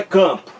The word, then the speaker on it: campo: Esse A nasal que está na palavra campo é aqui a letra M. O M aqui é só letra, gente.